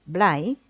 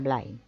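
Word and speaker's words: Bly: que hay un tal Robert blay que fue un poeta y un pensador americano creo que se pronuncia bline que llamó a la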